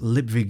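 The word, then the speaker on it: Lipwig: "It's pronounced Lipvig, you moron," he moaned. "The V, not a W."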